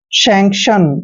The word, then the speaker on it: sanction: दोस्तों एस का उच्चारण हमेशा हम से करते हैं, ए को ए की मात्रा पढ़ते हैं और एन को न पढ़ते हैं। और देखिए यहाँ पे सी का उच्चारण कै करेंगे, क्योंकि सी के बाद जब भी कोई कॉन्सोनेंट आता है तो सी को हमने कै पढ़ना है। और TION का उच्चारण हमेशा शन पढ़ते हैं।